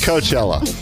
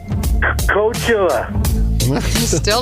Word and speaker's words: Coachella: for playing all you have to do is pronounced Coachella Coachella right slash saxophone sound March Madness is